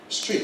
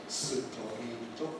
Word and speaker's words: street: And then the word street is difficult, and it's of course not superito, but street, street, street. Okay, all just one syllable, street.